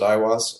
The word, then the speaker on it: Aiwass: We pronounce it Aiwass, and it's the entity that he apparently first